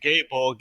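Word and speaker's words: Gáe Bolg: his yex ability is gay bulk which I'm probably not pronouncing right gay a bulk I don't know its of no you're right gay Bolg is the correct pronunciation okay it's a four-hit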